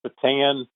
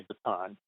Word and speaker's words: Bataan: Well, it's both ways. I think the anglicized version is Bataan. Technically, a lot of people say Bataan.